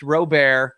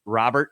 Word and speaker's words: Robert: It's not pronounced Robert, so whoever's saying it that way, tell them to stop. That's not how he says his name. It's Luis Robert Jr.